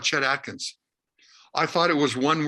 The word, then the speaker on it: Chet Atkins: into the record store i say i want to get a chat atkins record she says do you mean chet atkins i said no no